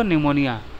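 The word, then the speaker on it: pneumonia: Actually P से शुरू होता है दोस्तों, लेकिन इसको प्रोनाउंस किया जाता है टेरिडोफाइटा। जिसे निमोनिया को आप प्रोनाउंस करते हैं वो भी पी से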